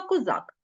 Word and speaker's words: козак: наголос на суфіксі бачимо Отож козак наголос на корені козаки перемістився у множені наголос на закінчення і у слові козаченьки